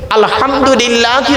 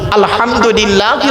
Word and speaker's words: আলহামদুলিল্লাহ: আলহামদুলিল্লাহি রাব্বিল আলামিন। আলহামদুলিল্লাহি রাব্বিল আলামিন। এই গলার ভেতর থেকে এটা উচ্চারণ করবেন, আলহামদুলিল্লাহ।